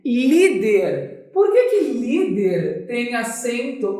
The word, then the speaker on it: líder: Líder. Por que líder tem acento? Ó, líder. Qual é a sílaba mais forte? É o li.